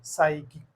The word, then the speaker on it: psychic: p is silent psychiatrist next psychic again the same p s so p word Start begin P silent so p is silent psychic psychology psychiatrist and psychic